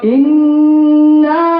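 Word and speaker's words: إِنَّا: রাহমানির রাহিম ইন্না ইন্না এখানে একটা গুন্না আছে এই গুন্নাটাকে বলে ওয়াজিব গুন্না তো খেয়াল করবেন কেমনে গুন্নাটা আমরা বলি আমাদের যে কোর্স হয় সেই কোর্সের মধ্যে আসলে আমরা বিস্তারিত বলে এখন যেহেতু সময় কম আমরা শুধু বলে যাব ইন্না ইন্না আতই আতই আতই আতই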